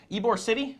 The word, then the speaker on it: Ybor City: Petersburg, if you didn't know by now, but they're moving to Ybor City, that's how you pronounce it, just a little bit north of Tampa.